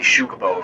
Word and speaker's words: Xucaboa: i named the city shukabo first off the x is pronounced like a sho so it's is the